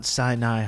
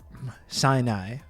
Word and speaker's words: Sinai: Spider-Man has attacked Mount siai hospital it's true and I was informed actually yesterday that I was pronouncing that incorrectly Sinai very troubling development the